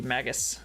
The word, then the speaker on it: Magus: I think it'd be Magus. We'll go with hard G because Nergus. Magus.